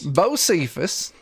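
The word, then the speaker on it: Bosephus: this traveler for me josephus how do you spell that b-o-s-e-p-h-u-s b-o-s what's the last part e-p-h-u-s my name is bo cephus and uh i got a little bit of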